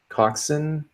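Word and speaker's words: coxswain: keeps it you know Co X s w AI n Coxon Coxon yeah auction keeps the engines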